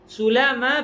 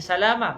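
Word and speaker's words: سُلامى: Cara bacanya iaitu huruf sin yang tidak bertitik itu kita bariskan dengan baris depan. Jangan baca salama, baca sulama. Kemudian lam itu adalah dibaca secara nipis, iaitu tanpa sabdu. Jangan dibaca sulama, tapi dibaca sulama. Wa fathil mim. Mim yang seterusnya pula adalah di baris atas, bukan sulami tapi sulama.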